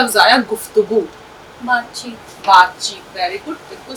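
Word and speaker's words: گفتگو: गाफ फे पेश गुफ ते जबरता, गावा पेशगु, गुफ्तगू।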